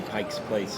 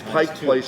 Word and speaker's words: Pike Place: Pike Place I I I think I say Pike's Place it's Pik Place Mar about you Amy